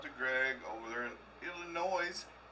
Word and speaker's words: Illinois: Greg over there in Illinois it's on the end no it's Illinois it's Illinois Dan the S is silent it's like Indiana silence